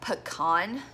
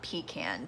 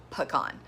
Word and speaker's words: pecan: homemade pecan pie, and that's pronounced pecan, not pecan, for those of you who are weird. I'm from the South, so we pronounce it pecan. A pecan is an outhouse or a porta potty.